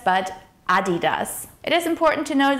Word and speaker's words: Adidas: So the correct pronunciation is Adidas, with the emphasis on the first syllable. So it's not Adidas or Adidas, but Adidas.